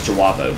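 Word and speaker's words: J'avo: or jabos so where's how you say it is jawabo but it's spelled as Java with a asterisk in the middle between Jay and the a you ever seen a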